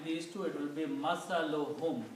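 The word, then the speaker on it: مثلهم: When we combine these two, it will be masaluhum. We don't pronounce two dhammas, one only. So the word becomes masaluhum, which is the word in the Quran.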